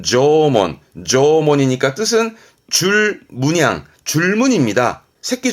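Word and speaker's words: 縄文: 발음은 조몬, 조몬이니까 뜻은 줄문양, 줄문입니다.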